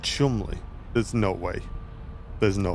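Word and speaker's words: Cholmondeley: Scholi is pronounced Chumley.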